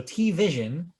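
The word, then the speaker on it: TVision: T-Vision? Yes, it's like T-Mobile. Yeah, I guess it's like T-Mobile. So T-Vision. Except there's no dash between T and Vision. It's just T-Vision. Right. T-Vision.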